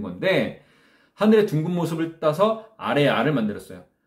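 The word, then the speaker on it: 아래아: 그것들의 원리를 바탕으로 천지인 3제의 원리를 바탕으로 만든 건데 하늘의 둥근 모습을 따서 아레아를 만들었어요. 아레아는 발음이 우리가 지금 하고 있는 아보다 조금 깊은 발음이라고 생각하시면 돼요.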